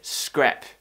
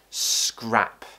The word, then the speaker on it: scrap: is the a sound many of them pronounce it as e so they might say scrap you will want to